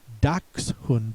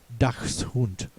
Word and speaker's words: Dachshund: You can expect the pronouncer to say Dachshund instead of Dachshund.